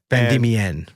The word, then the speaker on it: Van Diemen: Van Diemen is how you say that.